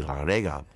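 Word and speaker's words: Llareggub: sounding name yes and it pronounced correctly in Welsh it would be laurega Mr and Mrs Cherry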